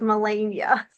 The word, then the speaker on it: Melania: know a lot of people know the name Melania, but yeah, the way that I've always pronounced it is Melania.